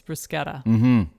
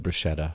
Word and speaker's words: bruschetta: i don't think i was ordering bruschetta on the plane but somehow you got talked